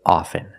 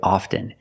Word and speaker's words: often: With both words, I don't pronounce the T. I say soften, and I say often. But sometimes you'll hear people say often, and it's not wrong, it's okay. People say both, often and often.